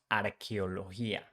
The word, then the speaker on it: arqueología: Spanish is different because CH in Spanish changed for QU. So we pronounce arqueología. And the same thing with G. As I told you before, when G is followed by I or E, it sounds like H.